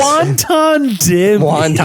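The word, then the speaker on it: wanton: Wonton damage. You know what I'm talking about? No, it's just wonton damage. It's not pronounced like the Chinese food.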